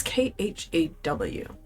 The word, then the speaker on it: Khaw: It's Khaw.